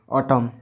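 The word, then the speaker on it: autumn: देखिए एम के बाद एन आ रहा है, ऑटम, इसको एन साइलेंट रख दिया जाता है, ऑटम पढ़ा जाता है।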